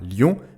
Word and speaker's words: lion: Le mot lion ne se prononce donc pas lion, mais lion.